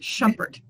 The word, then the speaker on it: Shumpert: are the only ones of us and it's pronounced shumpert just the way i'm spelled i went from